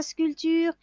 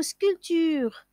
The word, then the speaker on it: sculpture: voyez mes amis que le mot sculpture comporte un P qu'on ne prononce pas c'est un peu muet scull tu mets ça